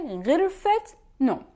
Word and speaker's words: غرفة نوم: Idafa or indefinite Idafa, when the first noun has ta marbuta, the feminine sign, we pronounce it ha. In this case, we will pronounce it ta, like غرفة نوم. غرفة is a room ending with ta marbuta, but we would say غرفة نوم.